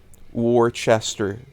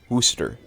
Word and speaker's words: Worcester: I know I know Worchester War Chester is Wooster not worft CAD Chester it's literally a stem